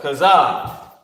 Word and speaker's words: chazah: So chazah, right? Cha, za, and ha connected. Cha, za, and you have the character ha. Chazah. This is how you pronounce it.